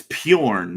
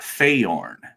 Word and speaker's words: Bjorn: And it's Bjorn, not Fayorn. Bjorn.